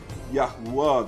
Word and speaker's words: Yahuwah: when they see yote they would pronounce it as yahuwah that is what the pronunciation is therefore that is what